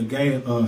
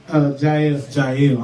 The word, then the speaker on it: Jael: Y'all gonna see Adrian Butler, Jonathan Traylor, Gail. How you say it, Gail? Jael.